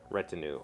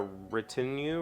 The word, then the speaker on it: retinue: presidents wherever he goes 24 hours a day retinue r-a-t-i-n-u-e that is not how I've heard that word pronounced I always thought it was well I